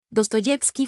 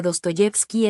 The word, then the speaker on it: Dostoyevski: gobernación de Minsk Bielorrusia en sus orígenes el acento del apellido como el del pueblo recaía en la segunda sílaba pero cambió su posición a la tercera en el siglo 19.7 de acuerdo con